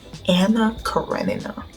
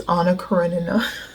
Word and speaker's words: Anna Karenina: got Wuthering Heights, and I pronounced it, I think, Anna Karenina. I'm sorry, Leo Tolstoy, I kind of butchered one of your life's work. It's Anna Karenina.